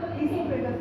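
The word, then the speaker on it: oesophagus: ओ से शुरू हुआ लेकिन ओ का उच्चारण नहीं आएगा। इससोफेगस कहते हैं।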